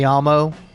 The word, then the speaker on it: llamo: be Escuella, you know, because in Spanish the double L is pronounced like a Y, say me llamo, one of the more